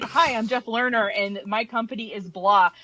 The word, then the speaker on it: Lerner: Jeff, how do you pronounce it? Lena? Jeff Lerner.